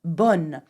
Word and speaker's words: bonne: Now, note that if you add an N and an E to bon, it becomes bonne, and the sound changes completely.